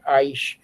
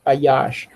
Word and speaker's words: Ayash: pleases uh Yahwh delights her aash or some people can say Aish. Uh it's um Alfad Shan. Uh so I pronounce it Ayash.